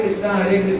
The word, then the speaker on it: कृष्ण: नहीं, उच्चारण स्पष्ट करना है। हरे कृष्ण कृष्ण कृष्ण हरे हरे।